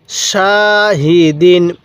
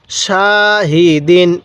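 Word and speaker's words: شاهدين: শা হা জের হি দাল দুই জের দিন শাহিদিন কিভাবে পড়বো শাহিদিন এরকম ভাবে শিখবো এবার বলবেন এই হরফ এর উচ্চারণগুলো আমরা কিভাবে পড়বো হ্যাঁ আইন আলিফ জবর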